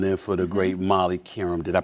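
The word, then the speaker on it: Qerim: you doing filling in for the great Molly Karam. Did I pronounce her name right? Karam, okay.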